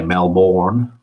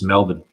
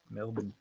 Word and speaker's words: Melbourne: So an American will say Melbourne because they'll really pronounce that. Yeah. Whereas for me, it's Melbourne. Melbourne. Yeah. So it's a bin rather than a born.